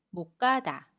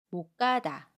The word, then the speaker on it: 못 가다: 못의 받침 시옷과 첫소리 기역이 만납니다. 그러면 못 가다 라고 발음해요. 받침 시옷은 받침소리 디귿으로 발음하고요. 첫소리 기역은 까로 된소리로 발음해요. 그래서 못 가다, 못 가다 라고 발음합니다.